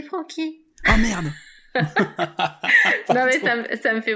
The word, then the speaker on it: Franchi: l'apéro franchi caisse mais attention c'est francky la merde ça me